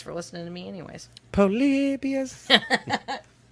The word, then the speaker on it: Polybius: I've got polybius yep it's not polybias it's polybius it reminds me of